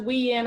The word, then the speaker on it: Uyen: some great interviewing yes my name is pronounced Wien I had to learn